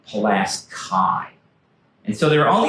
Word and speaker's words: Pulaski: Not Pulaski, Pulaski.